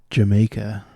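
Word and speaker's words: D'yer Mak'er: Led Zeppelin title that's meant to be pronounced Jamaica.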